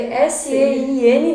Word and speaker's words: Sein: E todos esses, então sempre procurar lá, Sein Brinquedos Educativos, se escreve S-E-I-N, né? Porque é uma palavra que vem do alemão, então a gente pronuncia Sein, mas é Sein que escreve, né? Que significa ser, e que vocês vão